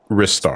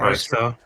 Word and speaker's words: Ristar: Is it Rystar or is it Ristar? Rystar. It's Rystar. To my knowledge.